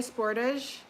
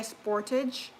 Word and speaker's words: Sportage: We pronounce it French Canadian sportage. We say sportage and you guys say Sportage.